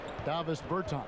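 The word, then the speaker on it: Dāvis Bertāns: Oh, well now, at this point in my life, it's Davis Bertans. Is that how you say his name? Yeah. Davis Bertans.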